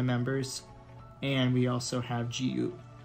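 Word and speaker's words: Jiwoo: and we also have gu which is spelled like actually j-i-w-o-o but you pronounce it as g-u so um those are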